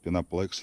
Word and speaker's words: Пеноплекс: поэтому фиг знает ноги так пишет пеноплекс пеноплекс ну я же как пишется в роли думал правильно говорится пеноплэкс ну да ладно не